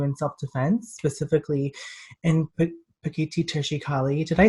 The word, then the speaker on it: Pekiti Tirsia Kali: they train you in self-defense specifically and put petite teacher she Kali did I say it right now keep it